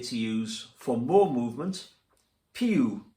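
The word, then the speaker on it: più: use for more movement pew mosso pu don't forget the little accent on the u in pu and less movement meno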